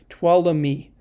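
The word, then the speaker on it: Tuolumne: see every big city do the same ventura tuolumi i know how to pronounce that now you proud of me tuala me um san bernardino so yeah there's a lot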